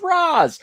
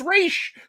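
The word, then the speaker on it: Ra's: pronounce his name because i always thought it was razz but apparently it's raish oh yeah for that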